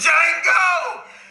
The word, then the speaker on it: Django: Django! You black son of a bitch! D is silent here, baby. Now, all you black folks, I suggest you get away from all these white folks.